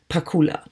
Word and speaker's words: Pakula: up well if it is German then the pronunciation would Pakula yeah Pakula no piccola yeah that's I think